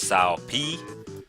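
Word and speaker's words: Cao Pi: the South family now historically was sow P which is funny cuz his name is spelled cow pie which as a kid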